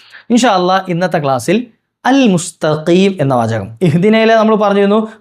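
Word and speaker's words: مستقيم: ഇന്നത്തെ ക്ലാസ്സിൽ പറയുന്ന ഈ മുസ്തക്കീം എന്ന വാചകത്തിൽ ചില ആളുകൾ എന്ത് ചെയ്യും മുസ്തക്കീം എന്ന് പറയേണ്ടിടുത്ത് മുസ്ത പറയും മുസ്തീ കാരണം അതിനുശേഷമുള്ളത് കാഫ് കാഫ് വലിയ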